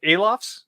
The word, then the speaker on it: Alofs: James back here again am I saying your last name alofs is that how it's was pronounced you got it I'm surprised man even